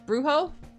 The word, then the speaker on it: brujo: Brujo? B-R-U-J-O, which I believe is pronounced brujo.